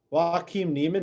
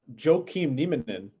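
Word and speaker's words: Joaquín Niemann: 17 that was incredible that's not how you say it what how did you say it joaquin neiman walking neiman not joe keem neiman did i you turned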